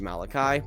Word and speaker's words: Malachi: By the way, the menu is pronounced Malachi.